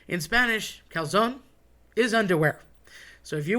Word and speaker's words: calzone: Calzone. Love talking about calzone. So, everybody wants to say calzone. I get it. You're lazy. You don't want to say the e on the end.